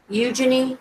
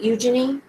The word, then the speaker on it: Eugenie: you notice Princess Eugenie's Eugenie, is that how you say it? Eugenie?